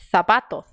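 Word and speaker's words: zapato: deles falam assim então quando eles vêm a letra z eles não fazem S eles fazem que é um som que não tem português tem no inglês é o som da palavra então é esse mesmo som que você vai fazer quando vê ele trazer se você quer pronunciar como um espanhol tá então você vai ver essas palavras e vai dizer sapato Opa perdão exagerei só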